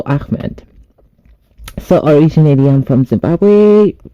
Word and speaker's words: Ahmad: the floor with Amed so many people are struggling to pronounce my name here in the US my name is spelled as d z o e a h m a d so Amed so originally I'm from